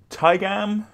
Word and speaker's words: Taigam: Today we are building Tyam Master Opportunist. Master Opportunist. That's how you say it.